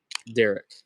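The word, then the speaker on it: daric: Derek.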